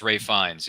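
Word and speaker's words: Ralph Fiennes: You know, it's spelled as Ralph, but it's Ray Fiennes.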